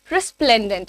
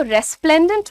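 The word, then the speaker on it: resplendent: next देखते हैं यहां पर हमारा वर्ड है रेस्प्लेंडेंट उसको रेस्प्लेंडेंट मत बोलिएगा रेस्प्लेंडेंट होता है अगेन दिस इज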